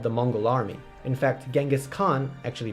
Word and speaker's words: Chinggis Khaan: the form of the Mongol army in fact Genghis Khan actually pronounced Chinggis Khaan founder and great ruler of the Mongol Empire